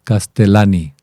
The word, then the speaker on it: Castellani: Que Leonardo Casteliani eh se pronuncia como si fuera con una sola L. Castelani.